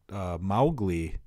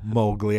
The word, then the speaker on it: Mowgli: GOI yeah I suppose mow the lawn you know Mowgli I'm an idiot but but it's it sounds like there should be an e in there Mowgli that's how I always pronounce it Mowgli would be how